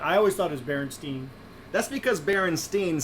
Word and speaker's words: Berenstain: It was never spelled Berenstein, Berenstain. It's spelled Berenstain, Berenstain Bears. And some people have, for their whole lives, always grown up as Berenstain, the Steen instead of Stain.